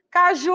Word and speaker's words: caju: o que a classificação caju Caju com a sílaba tônica ó Ju e aí é a última é a penúltima EA